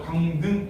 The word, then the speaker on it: 강릉: 그래서 강등 하면 되지. 강등. 이렇게. 그래서 이건 강등. 이렇게 발음하고.